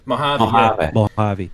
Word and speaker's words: Mojave: Mojave, what did you call it? How do you guys pronounce that? Mojave.